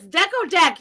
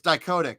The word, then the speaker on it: Dichotic: Oh, it's Deco Deck. You were just on his channel. It's dichotic, yeah. Oh. He told me himself. He told me himself it's pronounced dichotic. So.